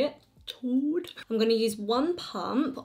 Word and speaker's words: Chaud: Chaud.